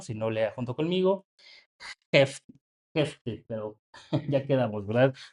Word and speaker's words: Jefté: Si no lea junto conmigo Jefte, pero ya quedamos, ¿verdad? La pronunciación en hebreo es Jefté.